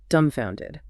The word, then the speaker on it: dumbfounded: Number seven, dumbfounded. Dumbfounded. Dumbfounded. And remember that silent B, right?